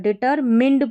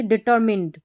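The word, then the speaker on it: determined: अ डिटर डी ई डी टी आर ट डिटरमिंड पढ़ना है इसको माइंड नहीं पढ़ेंगे डिटरमिंड डिटरमिंड ठीक है डिटरमिंड दृढ़ निश्चय पक्का इरादा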